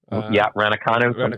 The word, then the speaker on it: Raducanu: Yeah, the shopping and bopping with Emma, how do you pronounce her name? Emma Raducanu? Raducanu.